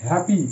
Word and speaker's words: happy: Next হ্যাপি, HAPPY হ্যাপি, এখানেও ওয়াই আই এর জায়গায় আছে, ওয়াই এর উচ্চারণ আই এর মতো হচ্ছে, হ্যাপি।